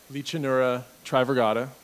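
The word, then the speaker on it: Lichanura trivirgata: No, but we would like the appropriate scientific pronunciations. That was really close. I commend you on that. It's Licanura trivirgata, and Licanura orcuti, for those who are taking notes.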